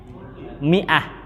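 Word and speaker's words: مائة: kalau biasanya kan apa kalau setelahnya mim ada Alif Bacanya apa bacanya apa setelah mim ada Alif itu biasanya Apa bacanya fathah ya kan ini khusus bacanya mi jadi anggap alifnya enggak ada Miah gitu Miah ya Miah jadi Anti jangan rumah bingung bacanya Ma ah salah itu khusus untuk kata ini Miah bacanya mimnya di kasrah ya mimnya di kasrah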